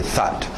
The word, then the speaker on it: thought: E o passado irregular, thought, but, sat, cut, thought. Para no T, thought.